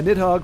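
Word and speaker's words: Nidhogg: on this Dragon yeah nit hog phonetically friendly spelling nit hog you did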